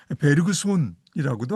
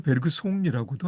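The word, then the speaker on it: Bergson: 베르그손의 말입니다. 베르그손이라고도 하고요. 베르그송이라고도 하고요. 프랑스 발음에도 두 가지가 다 쓰이는 것 같아요.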